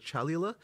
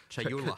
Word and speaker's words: Chayula: So the acolyte of, and I always get this name wrong, the acolyte of, is it Chalula? Chayula. Chayula, I always say this wrong.